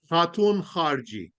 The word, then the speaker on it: Khatoun Kharji: Savar is an easy one that looks compelling, but tell us how do you pronounce the rest of that? Okay, huh. All right. Khatoun Kharji.